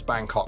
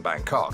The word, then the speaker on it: Bangkok: Bro, why is he putting the pronunciation on the second part?